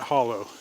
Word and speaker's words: hollow: I am at the Wildcat hollow or holler depending on where you were born how you pronounced that I am heading